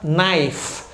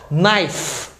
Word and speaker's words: knife: aqui é a palavra Knife Knife Lembrando que toda vez que você vê KN em inglês jamais você pronuncia o k Knife é a faca